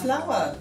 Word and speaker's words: flour: Flour, good. Flour. Quelle feuille. Flour. Ouais. Ça se prononce comme une fleur. Ouais. Flour.